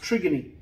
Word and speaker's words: trigone: branches that's called the trigone some people say the word trigon but it's a greek word it's pronounced trigony that's where the baroreceptors